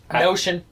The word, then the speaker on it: Notion: So in 507 or 506, depending on how you want to count it, we have the Battle of Notium. Notion. Yeah, Notion, spelled like Notion.